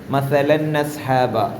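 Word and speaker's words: مَثَلًا أَصْحَابَ: എന്തായിരുന്നു മസലൻ അസ്ഹാബ എങ്ങനെയാ അവിടെ ഒരു നൂന് വരുന്നത് നസ്ഹാബ എന്ന നൂന് വരുന്നുണ്ട് അതെന്താ സംഭവം മസലൻ എന്നതിലെ തൻവീനിന് ശേഷം അസ്ഹാബ എന്ന ഹംസിന്റെ ഹർക്കത്ത് എന്ത് ചെയ്തു ആ തൻവീനിലേക്ക് നീങ്ങിപ്പോയി മസലൻ എന്ന അവിടെ ഒരു തൻവീൻ എന്ന് പറഞ്ഞാൽ ശരിക്കും നൂന് എഴുത്തിൽ കാണുന്നതേ അല്ല ഉച്ചാരണത്തിൽ മാത്രം വരുന്ന ഒരു സുക്കൂനുള്ള നൂനിനെയാണ്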